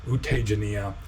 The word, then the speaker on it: Tejaniya: is not the famous U Tejaniya in Rangoon, but just a Taungpulu, disciple of Taungpulu Sayadaw. U Tejaniya, because J is pronounced like a Z in Burmese.